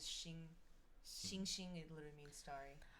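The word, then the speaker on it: 星: At least for Mandarin, I've only ever heard stars pronounced as Xing.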